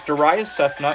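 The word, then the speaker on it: Darayus Sethna: should be about the third one down it's darya cephna it's spelled d-a-r-a-y-u-s-s-e-t-h-n-a once you click on my name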